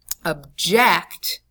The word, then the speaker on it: object: okay next word to object now notice the pronunciation guide here object is the way we pronounce the word when